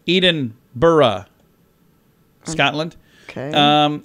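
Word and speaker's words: Edinburgh: not Adele really yeah Eden Burr instead of Eden burra Scotland okay um how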